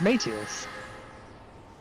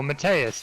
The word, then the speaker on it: Mateus: not that's not Shiva it's Mateus oh or matus depending on how you ask someone to pronounce it right oh oh that's